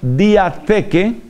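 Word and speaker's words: διαθήκη: Para ustedes interesadas en la palabra clave, en esta palabra clave, pues esa palabra alianza se dice en griego diatheke, theke se escribe con th y eso va con k.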